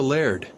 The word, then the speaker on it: laird: What's a laird? Oh, that's how we Scotsmen pronounce the word lord.